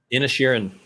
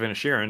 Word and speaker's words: Inisherin: How do you pronounce that? Inisherin.